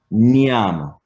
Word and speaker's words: nyam: Rather than say nam or yam, it's nyam. So the N and the Y, these are things that you'll have to practice.